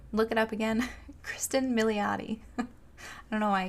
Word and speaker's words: Milioti: And of course the aforementioned Andy Samberg and Kristen Milo. I already forgot how to say her name. Had to look it up again. Kristen Milioti.